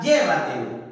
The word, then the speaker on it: llévatelo: La palabra llévatelo, ¿cómo voy a tildar?